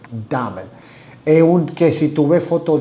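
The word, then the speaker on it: Dahmer: llama Jeffrey Jeffrey búsquenlo Jeffrey damel y dame se escribe de a H M e r damer es que si tuve foto de él era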